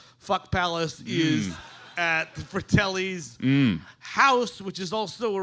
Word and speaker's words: Fratellis: Because I'm watching the movie today, and I'm like, oh, so the Tortellis are walking in. Those are the 2 brothers. Oh, no. Was that, did I say it wrong? Fratellis.